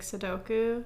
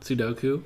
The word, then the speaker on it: Sudoku: used to play like sodoku is that how you pronounce it or Soko Sudoku yeah yeah I used to